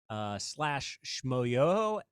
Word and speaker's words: Schmoyoho: But you can look at our YouTube videos or our TikToks at /Schmoyoho, SCHMOYOHO, accent on the yo.